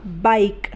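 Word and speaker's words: bike: है इस तरीके से बी आई के आई यहां पर भी आखिर में ए है इसलिए यहां पर भी ए नहीं बोला जाएगा तो ये बन जाएगा बाइक बाइक के तो नहीं बोल रहे बाइक बोल रहे हैं इस तरीके से ल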